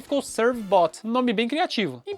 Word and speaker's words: Servbot: Na pronúncia em inglês, Servbot.